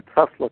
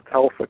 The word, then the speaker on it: Tesla: is performed using a Tesla coil, a Telsa coil, as I used to pronounce it back in those days.